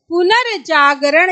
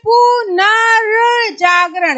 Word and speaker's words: पुनर्जागरण: स्थान इसका होगा ये, यानी शब्द से पहले बोला जाएगा। तो आपका उस लॉजिक से अगर हम देखें तो ऑप्शन क्या होगा, पुनर्जागरण, ये सही होगा। क्यों सही होगा, क्योंकि हम बोल रहे पुनर्जागरण, यानी शब्द से पहले